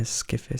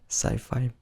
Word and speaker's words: sci-fi: I'm not sure if it sounds spacey, but something that I could maybe hear in a skiffy song. That's how you say it's skiffy. Maybe you hear sci-fi more often.